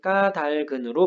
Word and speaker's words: 까닭은: 까닭은 같은 경우엔 까달근으로 발음한다.